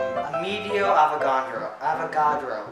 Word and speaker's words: Amedeo Avogadro: So the number is named after some guy named Amedeo Avogadro.